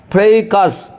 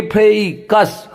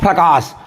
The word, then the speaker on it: fracas: एक बार उच्चारण देखिए, एफ से पहले लकीर है, एफ पे जोर देना होगा। उसके बाद थोड़ा देर ए आई जो है ए क्या पढ़ेंगे, फ्रेकस, नहीं तो आप पढ़ते होंगे इसको फ्रकास, लेकिन that is not exact pronunciation.